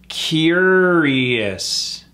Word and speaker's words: curious: tuned for the quiz this one trips a lot of people out because it does not sound like how it's spelled curious that OU is gone it's just three syllables cure is emphasis on that first syllable curious those RS are